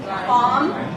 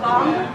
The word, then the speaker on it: bomb: Okay, then the ending, there is no B. Lamb. Comb. Bomb. Right? Not bomb.